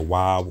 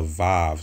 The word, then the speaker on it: Waw: six which is the wild or the vive some people call it vive or pronounce it vibe vav but the uh correct pronunciation for this character historically linguistically would be wild and that's uh proven